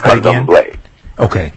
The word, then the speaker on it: Candomblé: Pronounce that again? Candomblé. Okay, Candomblé, yes.